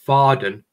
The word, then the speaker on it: Faden: But I think it's a German word, so I think it's Faden, the correct pronunciation.